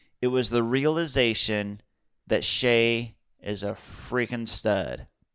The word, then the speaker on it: Shai: I called him Shy a few times.